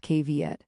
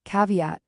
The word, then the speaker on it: caveat: That word is caveat pronounced kviet. Say it slowly. Caveat.